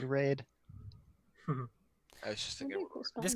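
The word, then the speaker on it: Wraid: So this person's name is His name should be Raid, spelled with a W.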